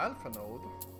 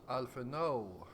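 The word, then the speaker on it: Alphinaud: Quest by talking to alphan node right now I don't know why I'm pronouncing that name his name that way it's alha no the D is silent all right well it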